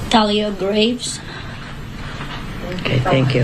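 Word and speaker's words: Thalia Graves: we have the correct do you want to pronounce her name Talia Graves okay thank you m GL are you in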